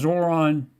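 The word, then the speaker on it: Zohran: By the way, 57% of you last night believed that Zoran, I can remember that because Zoran rhymes with moron.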